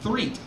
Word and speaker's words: Threet: Threet. It's like, you spelled like threat with an extra T.